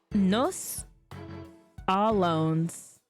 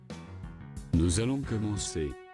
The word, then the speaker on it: Nous allons commencer: That is Latin, isn't it? No, it's French. Oh. Commencer. We will begin. Nous allons commencer.